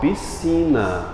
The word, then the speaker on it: piscina: uma palavra extra aí piscina pronuncia é um s só ou s depois você é um s só o som é de um s só piscina agora isso aqui sim